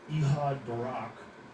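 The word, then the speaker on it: Ehud Barak: You know, Epstein with a smiley emoji asks former Israeli PM Ehad Barack, that is how you say his name.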